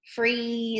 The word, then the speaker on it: freeze: E, to get that long E sound. We have two vowels walking. Freeze, in this case. And we also have a silent E at the end. So freeze.